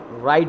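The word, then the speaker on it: Wright: हम डर राइट brothers राइट brother कहते हैं इसको ब्राइट नहीं पड़ेगी फिर मैंने बताया जब यह साइलेंट है खैर राइट ब्रदर्स डिडंट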